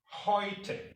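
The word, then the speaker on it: heute: doing you are doing really well so deutsch hoyte means today hoyte means today noi means new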